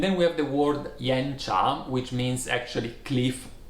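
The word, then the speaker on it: 岩茶: we have the word yen charm which means actually cliff T yen cha is pronounced with two rising tone yen job and it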